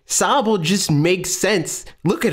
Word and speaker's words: Sobble: It's definitely Sobble. I was like, what? Like that doesn't make any sense. Like it's supposed to be a pun. Like Sobble just makes sense.